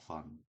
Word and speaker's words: fun: 자, 이거는 푸 발음인데 이거는 입술을 붙인 상태에서 뛰면서 푸라고 읽지만 이거는 요 입 모양 발음할 때 윗이빨로 아랫입술을 살짝 물고 튕기면서 푸.